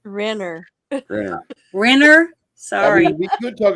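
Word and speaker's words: Renner: Jeremy Reiner. Isn't that how you say his name? It's Rener.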